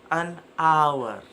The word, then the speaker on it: hour: Karena pada hour hanya itu adalah silent letter. Dia tidak bunyi sebagai H, tapi hour. An hour. Lihat, an hour, dengarkan baik-baik, an hour, bukan an hour atau a hour.